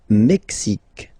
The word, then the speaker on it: Mexique: Le Mexique, le Mexique. Mexique. It's really the X. Huh? Le Mexique. And then remember this QUE, it's only K.